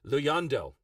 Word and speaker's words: Luyando: Luyando! It's South African. Right, okay, Luyondo. Why didn't you say that in the first place? Luyondo. Okay, awesome. Thank you for that. That's how you pronounce that.